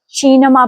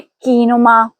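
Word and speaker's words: cinema: ध्यान दें। यहां शी के बाद इ आया है। इसलिए यहां हम इसे शीनमा पढ़ेंगे। ना के कीनुमा।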